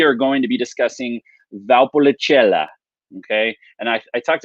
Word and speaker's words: Valpolicella: going to be discussing valpolicella okay and i i talked about this yesterday with italian words it helps if you slow down to pronounce it so it's valpolicella okay it means the